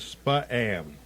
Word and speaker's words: Spa-am: Otherwise known as Spa-am. Spa-am, yeah. Spa-am. See, I mispronounced it.